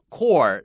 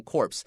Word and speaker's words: Corps: 然后那个上面是写 C-O-R-P-S。但是这个时候我2个 P 跟 S 都念了，我会念成 corpse，然后老师告诉我说这个地方不能，那个 P 跟 S 不能念出来 Marine Corps 就这样子，所以我刚刚看到 corpse 的时候，我脑中顿了一下，就在想起 Bruce 老师说话的表情 No S here or no P here 然后我吓了一跳，所以当下那一刻我第一时间讲的出来是 core，后面才敢讲下去，因为这个地方讲的是尸体，可以要讲。